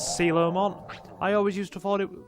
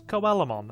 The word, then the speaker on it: Coelamon: And yes, I do believe this guy is pronounced as Coelamon. I always used to think it was Coelamon, and then I heard a Digimon YouTuber that I watch, known as Picasbury, pronounce it, and yeah, Coelamon. I believe that is the correct way.